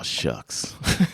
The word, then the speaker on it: Shough: It's like Shough. So it's like, when I first saw it, I was like, oh, it's Shuff? Tyler. It's the sound you make when you recover from choking on steak. Yeah, exactly. But no, it's Shuck.